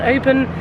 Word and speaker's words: Oban: I just need you all to know that I apologise because I've just learnt it's pronounced Oban, not Oban. Oban.